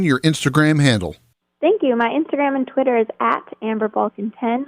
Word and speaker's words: Balcaen: Instagram handle the Amber Balkan pen my last name is spelled b-a-l-c-a-e-n and then Ken at the end time's running out so